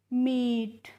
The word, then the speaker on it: MEET: इसके बाद है MEET, तो इसको हम पढ़ते हैं मीट। और MEAT होता है, तो इसको भी हम क्या पढ़ते हैं, मीट। यानी कि MEET और MEAT दोनों का ही प्रोनाउंसिएशन क्या होता है, मीट होता है।